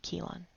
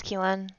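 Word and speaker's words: Kheelan: Getting punched by Lalnin at that party, losing her mother, losing Vix and Lavender, saying goodbye to Holt and Keelan, losing herself.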